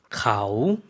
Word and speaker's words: เขา: 그녀라는 것 어떻게 발음하죠? เขา 네. 사성이죠. 내려갔다가 올라오는 발음으로 해주시면 되겠습니다.